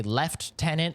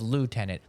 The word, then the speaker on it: lieutenant: than the fact that the fucking British say lieutenant instead of lieutenant. There's no F in lieutenant. Stop saying lieutenant. You guys created the fucking language. How are you still speaking it incorrectly?